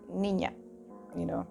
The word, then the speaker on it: niña: Niña, nya, like nya, it has that nya, niña, or Nina.